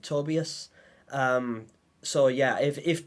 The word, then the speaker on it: Tobias: Tobias is they like I always struggle to say his name because I've been calling him Tobias uh and wasn't until I listened to the sounds of nightmares again uh where they pronounced it tobius um so yeah if